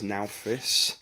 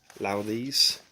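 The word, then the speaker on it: Nauthiz: And that leads us on to what some people would pronounce as Naufis, but is traditionally pronounced as Lauthes.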